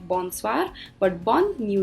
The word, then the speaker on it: bonsoir: all the time so let me repeat the pronunciation it's bonjour then we have bonsoir so as you can look in the picture